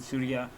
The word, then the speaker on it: Surah: I had a chapter from the Quran, Surah 9, but then again at the same time, or Surah, is this? Yes, I think I don't know, fucking man, it's pronounced Sura.